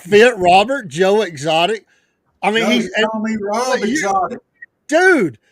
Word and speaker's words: Robert: does that not fit Robert Joe Exotic I mean dude your thing is not tiger you can do it what's it's alligators the French way to pronounce Robert like Rober Rober yeah I love exotic Rob